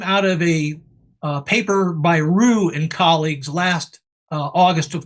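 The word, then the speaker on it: Ryu: Yeah, this is a photo that came out of a paper by Rue and colleagues last August of 2024. Rue is spelled R-Y-U.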